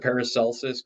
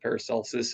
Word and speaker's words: Paracelsus: And I think this stuff with, and I'm going to pronounce it Paracelsus because I Okay.